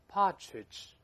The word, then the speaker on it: partridge: Gale Gale Partridge Partridge 这个在美音中呢，一般多把 R 读成 A 这个声音，这么发音也对。Partridge, Partridge, 所以 Partridge, Partridge 都会听到，都对。